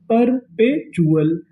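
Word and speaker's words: perpetual: टी यू एल को पढ़ते हैं चूलल। क्या पढ़ते हैं? चुल। तो मीनिंग क्या बनी? परपेचुअल परपेचुअल परपेचुअल का मतलब होता है लगातार तो मीनिंग परपेचुअल आगे चलते हैं।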